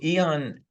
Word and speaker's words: Aeon: So Eon Oh, had, Eon. yeah, It's spelled a little Eon, different. yeah, Eon.